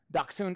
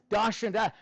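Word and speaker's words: Dachshund: Dun or the correct pronunciation was dashun.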